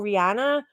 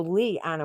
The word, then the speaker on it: Liana: I say Liana, and they're like, "Oh, Rihanna." And I'm like, "No, Lee Anna with an L."